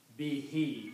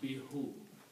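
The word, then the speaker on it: بِهِ: So when you read these together, you pronounce be he. You do not pronounce be who.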